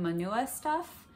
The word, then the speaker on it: monua.stuff: I believe you pronounce her name Monua Stuff.